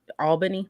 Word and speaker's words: Albany: kwalk Brit who you got uh same thing Albany did I say it right that time Al